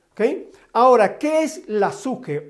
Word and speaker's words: psique: La palabra psique o la pronunciación como tal es una pronunciación anglosajona, pero en la transliteración del griego koiné o griego helenístico, la palabra alma se traduce y se pronuncia de manera correcta como suje, porque está relacionada con